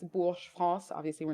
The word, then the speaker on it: Bourges: French is my first language, hence why I'm asked to pronounce these things. So, I mean, Emily, you had all of these correct. It's Bourges, France.